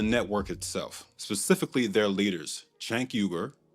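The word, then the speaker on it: Cenk Uygur: itself specifically their leaders Chank Yuber that's how the founder of TYT, Chanker, pronounces his name, by the way, and the self-labeled politically homeless Anakasparian.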